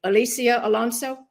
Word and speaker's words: Alicia Alonso: I hope I pronounced her name correctly. Alicia Alonso?